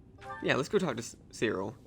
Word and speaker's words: Cyril: Yeah, let's go talk to Cyril. I think his name is pronounced Cyril, but I always say Cyril.